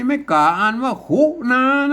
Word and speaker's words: ขุณณา: คู้ ต่อ หน้า มี ไม่ กล้า อ่าน ว่า คุนา แล้ว ก็ มา ก็ อ่าน ว่า คุนะ แล้ว